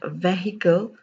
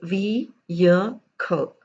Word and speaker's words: vehicle: have are vehicle vehement well it is not vehicle it is v year co vehicle vehement event have